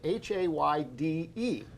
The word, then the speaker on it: Hayde: It's pronounced Hayde, H-A-Y-D-E, Hayde.